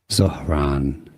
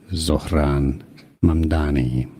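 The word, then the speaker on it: Zohran Mamdani: Politics, Zaran or Zran Mani in English pronunciation. Sauron Mani Sauron Mani.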